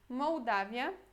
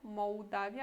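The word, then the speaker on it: Mołdawia: Depois temos aqui Moldávia, com L cortado. Então, aqui, esse L tem o som de U mesmo. Moldávia. Aqui não falamos Moldávia em polonês, falamos Moldávia. Em português também, só que escrevemos diferente.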